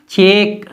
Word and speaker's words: cheque: और यहाँ है CHEQUE, तो इसको पढ़ेंगे चेक, चेक। ये जो यू और ई है ये नहीं पढ़े जाते हैं, ये साइलेंट रहते हैं।